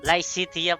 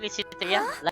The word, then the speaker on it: Lysithea: Licitia pala. You don't look well. Pero sinasabi natin, Lycitea. Lycitea pala pa. No, Yung pronunciation.